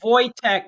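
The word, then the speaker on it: Wojtek: tells you anything and I think it'd be voytech because it's it's the W's are pronounced like a V him and Daniel Winnick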